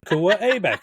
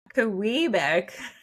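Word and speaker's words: Quebec: guys on Kuwait Street, turn left on Kua Abeck Street. You're like, "This is the name of a province that is clearly pronounced." This is a pretty major pronoun in this country. It's Kbeck.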